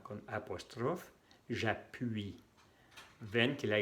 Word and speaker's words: j'appuie: La Y se va a cambiar aquí por la U y la I, que se pronuncia UI. UI. En frente de una vocal se pone la J con apóstrofe. J'appuie.